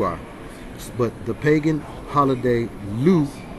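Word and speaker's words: Lugh: but the pagan holiday loop pronounced like hue l-u-g-h nasa i'll show you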